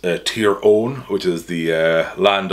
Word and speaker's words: Tyrone: terrone Wallace Tyrone Wallace I say terrone some people say Tyrone I you know I whatever Way Tyrone pronounces it I'm cool with that just to be clear I'm thinking of the county the name comes from uh which is tier own which is the uh